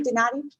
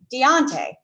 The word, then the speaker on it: Donati: Am I saying that correctly, Donati? Yeah. Deontay. I had it all wrong. It is, well, it's spelled Donati, he actually pronounces it Deontay.